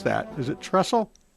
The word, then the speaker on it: Trissell: you're going to have to help me pronounce that. Is it Trissell? Trissell, okay, is special counsel for the Thomas More Society.